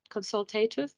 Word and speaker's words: consultative: That is how you pronounce that, consultative.